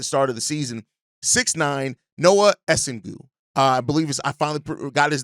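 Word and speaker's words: Noa Essengue: 6'9", Noah Essengu. I believe I finally got the pronunciation of his name correct.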